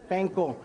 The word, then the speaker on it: panko: guys this right now when you guys say it say panko but i get scolding all the time because all my friends on food network they don't know how to say they got painful panko and everybody in hawaii goes hey sam tell your friends it's called panko so panko inside a